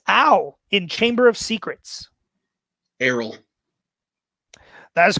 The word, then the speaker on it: Errol: Errol. That is correct for 2 points. Great pronunciation.